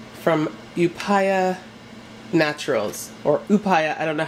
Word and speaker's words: Upaya: oh I see this it tells you right here who paya this is in Canada